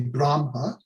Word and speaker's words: Brahma: karma karmic brahm or brahma or actually brahma with a long a brahma culpa and atman